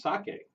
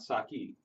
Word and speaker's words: sake: to school um so uh sake it's actually pronounced sake and not Saki so tonight when you go to don't you